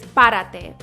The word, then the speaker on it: párate: All right, our next one is párate, which means stand up. Párate. Stress that first syllable, pa.